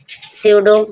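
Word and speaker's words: pseudo: सडो। सडो means जाली या झूठा। यहां पर पी के बाद एस आया है। इसलिए पी साइलेंट है।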